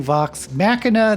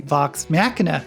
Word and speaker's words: Vox Machina: if i've been mispronouncing vox machina this i know i've pronounced it 100 different waves but i've been told that it's pronounced with a hard k just forgive me if